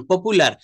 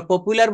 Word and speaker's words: popular: ইজ এ পপুলার person, পপুলার, কিন্তু এটা পপুলা। হি ইজ দ্য পপুলার person, সে একজন জনপ্রিয় ব্যক্তি। আমরা পপুলার বলি না, এটা পপুলা, পপুলা।